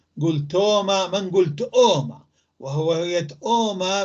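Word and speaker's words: ܬܐܘܡܐ: ساكنة أليف واو، تأوما، ولكن ما نقول تأوما مثل ما قلت لك سابقا، أنه دائما لما يجي في حرف ساكن قبل أليف متحركة، فحركة الأليف في النطق وليس في الكتابة تذهب إلى هذا الحرف.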